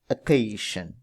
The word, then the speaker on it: occasion: Is it occasion or occasion? So this is actually pronounced occasion.